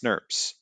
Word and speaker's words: snRNPs: nucleo nuclear ribonucleoproteins called snrnps pronounced snerps our RNA protein complexes